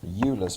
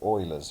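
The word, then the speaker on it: Euler: to pronounce this as ula's formula but it's actually German and so it's pronounced oa's formula and it says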